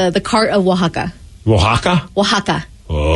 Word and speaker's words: Oaxaca: Oaxaca's a place in Mexico. Oh, so is it? It's like the cart of Oaxaca.